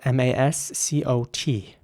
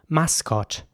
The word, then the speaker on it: mascot: The next word is spelled M-A-S-C-O-T. And again, the same principle applies. So it's mascot in British English, mascot. It's actually quite a German way of pronouncing this word, I find.